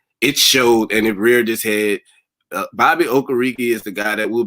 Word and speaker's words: Okereke: Well, if you want to be correct, it's Okereke. I'm going to continue to be wrong and say Okereke, no matter how productive he is.